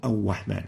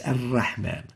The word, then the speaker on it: الرحمن: There is no Ar-Rahman. It's Ar-Rahman. Ar-Rahman. So Ar-Rahman, Ar-Rahim is wrong. And the right way of pronouncing it is الرحمن الرحيم Ar-Rahman Ar-Rahim. So you need to avoid pursing the lips while pronouncing the Ra.